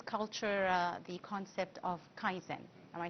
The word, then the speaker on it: kaizen: Now in Japanese culture uh the concept of kaizen am I saying it correctly?